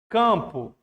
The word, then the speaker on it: campo: Campo. Campo tem dígrafo, ó. AM. Então é 5 letras e 4 fonemas.